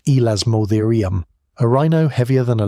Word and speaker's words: Elasmotherium: Cave lions bigger than any lion alive today, cave bears, Elasmotherium, pronounced Elasmotherium, a rhino heavier than a loaded F-150 with a skull dome that almost certainly carried one enormous horn.